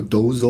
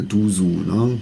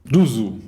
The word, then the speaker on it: doozzoo: In America some say do-zo or doozzoo because of the double os. Finally we say doozzoo. So you say doozzoo, Christoph, how do you say it? doozzoo, of course. "Was machst DU SO?"